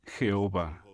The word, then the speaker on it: Jehová: La pronunciación más común de este nombre hebreo es Jehová.